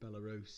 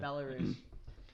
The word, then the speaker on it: Belarus: Path D though, Georgia versus Belarus, is that how you pronounce it? Belarus, yeah. Yeah, Belarus.